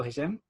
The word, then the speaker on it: Hishem: Thanks so much for being on the show, Hishem. You and very well pronounced.